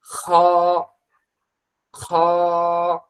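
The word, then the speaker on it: خ: খ এর উচ্চারণটা খুবই সহজ। খ খ মনে করেন বাংলায় যেমন ক খ আছে ও বাংলা খ এর যে উচ্চারণটা হবে আরবি খ এর একই রকম উচ্চারণ হবে মনে করেন পরবর্তী প্র্যাকটিসে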